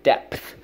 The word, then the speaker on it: depth: deep deep and depth get that P in there when you say depth whoa I'm sorry what